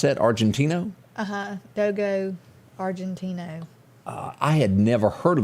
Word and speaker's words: Dogo Argentino: How do you pronounce that? Argentino? Dogo Argentino.